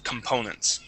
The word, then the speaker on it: components: and last word here components with the stress right in the middle there components okay components there you